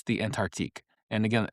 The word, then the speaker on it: Antarctique: It's the Antarctique. And again, Antarctique is the one that you're probably going to know the most.